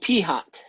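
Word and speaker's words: p̂: This little fella here, with a funny little thing on it, is called p-hat.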